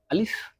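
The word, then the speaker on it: ألف: আলিফ, এর আগে একটা কথা বলে নেওয়া উচিত যে পুরো বর্ণমালাতে শুধু দুইটা হরফই আপনার একটু দ্রুত হবে। একটা হলো আলিফ আর একটা হলো হামজা।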